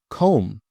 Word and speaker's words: comb: Comb. You comb your hair in the morning. I need to comb. Silent B.